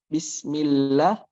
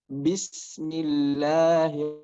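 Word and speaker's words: بسم: Nah, bismillah itu sin sukun, ada yang namanya sifat rokhawah. Jadi mengalir dulu suaranya. Jadi jangan kita mengucapkan bismillah, bismillah.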